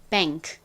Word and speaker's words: bank: 그리고 아까 말씀드렸듯이 N이니까 원래는 뱅크가 돼야 되는데 N과 K가 합쳐지면 이때 N은 니은 발음이 아니라 이응 소리가 됩니다. 그래서 벤이 아니라 뱅크 이렇게 발음을 해주셔야 합니다.